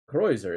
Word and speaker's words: Kreuzer: How do you pronounce that? Creuser. Oh God, I can't hear it. Cro- what? Kreuzer. Kreuzer.